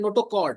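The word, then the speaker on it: notochord: वन जो है ना ये क का प्रोनाउंसिएशन कर रहा है सी एच इसको पढ़ते हैं नोटोोकर्ड ठीक है क्या पढ़ते हैं नोटोोकर्ड तो क यहां पे आया के के ठीक है एक्चुअल में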